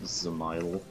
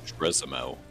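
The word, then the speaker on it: Dzemael: Service, I forget which one, it doesn't matter, it's pronounced Zamile. Zamile? What, instead of Drizmail? I was saying Dismail. Yeah, Zamile. How do you know?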